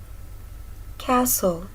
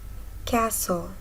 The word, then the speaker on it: castle: candle the second word castle castle the T is silent here now it's time to